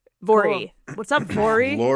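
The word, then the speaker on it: Voirrey: Vory. I looked up how to to say it. It's V O I R R E Y. Oh, yeah. So, rhymes with Lori. Vory.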